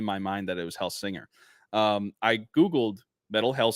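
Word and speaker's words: Hellsinger: metal hell singer wrong it's hell singer not hell Slinger to defend myself and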